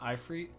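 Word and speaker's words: Ifrit: uh-oh the off read somebody told me how to say this but it's the off read it's not a fruit or a frittata you say but it's I free so the I Freight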